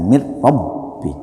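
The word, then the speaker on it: مِنْ رَبِّكَ: Nah, kalau bila gunnah namanya lam dan ro. Mir makanya bacanya mir rabbi.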